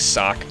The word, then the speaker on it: Socke: want to pronounce it I prefer the silent E I just like I just like sock keeps it simple so we're going to